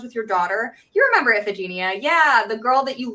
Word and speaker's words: Iphigenia: So I've always learned that it was pronounced Iphigenia, but I mean, it's ancient Greek. It's actual pronunciation. It's probably been lost to time, but whatever.